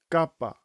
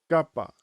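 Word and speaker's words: κάππα: Next letter is kapa. Kapa. This is said without a puff of air coming out of your mouth.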